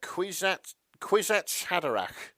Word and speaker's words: Kwisatz Haderach: Why don't you try and pronounce that name? The Kwisatz Haderach.